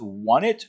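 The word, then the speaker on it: Onett: Now, don't know, there's no official pronunciation for the name of this town. I've always said on it, but a lot of people go with want it or want.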